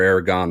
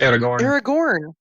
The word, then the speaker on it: Aragorn: Is Aragorn or Aragon the right way to say it? Aragorn.